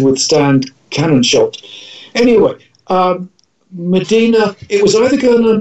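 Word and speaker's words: Mdina: um well yeah it's it's it's medina i thought it was spelt with an e but it's a place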